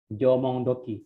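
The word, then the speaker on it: 縄文土器: Bacanya apa nih minasang nih? Jomong doki.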